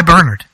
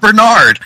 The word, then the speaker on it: Bernhard: my bag baby signed by Bernhard what not Bernard Bernhard that is important you must note the pronunciation of the name oh sorry Peter would